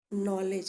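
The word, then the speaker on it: knowledge: इसमें के भी लिखा हुआ है लेकिन उच्चारण क्या है, नॉलेज। यानी के एन को भी हम न की तरह ही उच्चारित करेंगे, एन को भी हम न के समान ही उच्चारित करेंगे।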